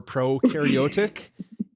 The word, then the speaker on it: prokaryotic: will never forget forget pro rhymes with no for prokaryotic and you is you